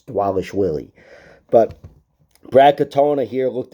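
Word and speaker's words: Dvalishvili: It's Dwalishvili.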